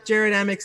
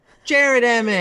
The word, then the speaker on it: Jared Emick: Let's just say Jared Emick's name one more time, just because I got it wrong the first time. Jared Emick. Jared Emick.